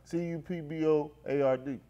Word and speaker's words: cupboard: T tiny C tiny cupb tiny who cupb spell it CU p b o a r d cupboard zy cupboard yeah cupboard you said cupboard